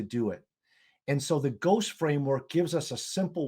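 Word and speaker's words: GOST: how you pronounce this I'm going to call it the ghost um framework g s no h g St framework um because it it helps us hook those two things together strategy and goals so walk us through the ghost framework if you would sure and yeah and you pronounce that perfectly the reason I like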